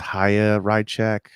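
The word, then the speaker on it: Chaya Raichik: I've heard it pronounced Haya Rychek. It's spelled like Chaya.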